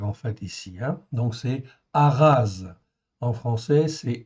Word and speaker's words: Ahaz: Et nous, dans notre école, en fait, il se prononce comme un R, en fait, ici. Donc c'est Ahaz. En français, c'est Achaz.